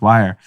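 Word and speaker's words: Wyre: crypto through Ledger with Wire. Wire, is spelled a little differently. Not like how you got to keep it hip. It's not hip to spell words exactly correct. It's not W-I-R-E, it's W-Y-R-E.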